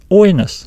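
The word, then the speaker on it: οἶνος: in the diphthong, but we still pronounce it as oinos. Oinos. So just remember that if the accent falls on the diphthong, it will be written above the second letter, but we still stress the first letter.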